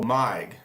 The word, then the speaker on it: MiG: Is the Meg and Meg 29 pronounced Meg? I think not. It's Megaron. Oh, Mig. Wait. Meg 29 pronounced MIG.